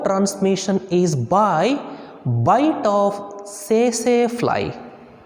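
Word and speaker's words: tsetse: is by bite of say say fly say say fly say safe light t is silent the scientific name of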